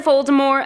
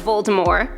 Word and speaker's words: Voldemort: Dark Lord's name incorrectly the true pronunciation drops the T at the end of the name in true French fashion for the pronunciation of Voldemort of course Voldemort was